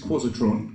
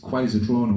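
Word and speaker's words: Quazatron: So yes, I always called this Quasitron growing up, but of course it's Quasitron or Quasitron, isn't it? Quasitron is how I say it.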